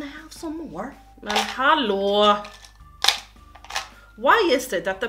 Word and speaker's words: Hallberg: it in Swedish, so Linda, I think it's the same, but Hall, you say Hall, we say Hall, and then you say Berg, we say Berg.